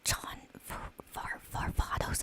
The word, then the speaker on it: John Varvatos: think this says like, the nice scent of John Varvatos, is how you pronounce it.